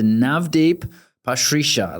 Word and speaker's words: Navdeep Pasricha: Navdeep Pasricha.